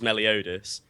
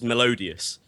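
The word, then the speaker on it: Meliodas: Is it Melodotus? That's how that's how you actually say his name is Melodus. Um but I thought his name was Melodius and that that was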